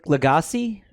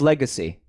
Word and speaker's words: Lagasse: yeah glop shadow so his last name is legacy but it just says like when you spell it out it says legacy l-a-g-a-s-s-e his name is emerald legacy no mike it is no look at it emerald